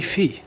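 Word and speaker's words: Teifi: of the ains Tron how do you pronounce that the Nikki being a Welsh person that you are tyi tyi I think that's the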